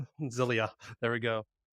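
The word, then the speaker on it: Zellij: using a multiplexer called Zellige. I'm not sure how the J is pronounced at the end of that. I think it's a Y. Zelia.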